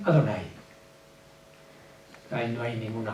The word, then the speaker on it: Adonai: existen en la escritura Adonai lo pronuncian adonay ahí no hay ninguna